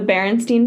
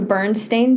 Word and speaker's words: Berenstain: I swear to God, they were called the Berenstain Bears, not the Bernstein Bears. Yeah, no, it was the Berenstain. Why would it be spelled like Stain? Stein makes so much more sense. That is an actual last name. Why would it be Stain? No one says that. Nobody says that, and it's more difficult to pronounce.